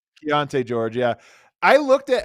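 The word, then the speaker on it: Keyonte: in Utah actually the guy in Utah is Kante George Keonte George yeah I looked at how Keshan Johnson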